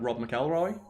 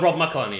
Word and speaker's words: Rob McElhenney: Like, again, I'll mispronounce the guy's name, Rob McElroy? The Always Sunny guy? Yeah. Where he just got buff and he went, yeah, because I've got a personal trainer. Oh, Rob McElhenney, yeah.